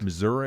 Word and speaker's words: Missouri: That is how you say that, isn't it, John? That's correct. Missouri is the pronunciation.